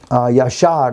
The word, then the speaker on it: Jasher: like we have today, the book of Jasher, Yashar is actually how you pronounce this.